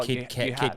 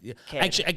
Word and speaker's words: Caird: name, because it still gets misspelled and people pronounce it wrong still to this day. I might even say it wrong. Oh, Kid, I have multiple times.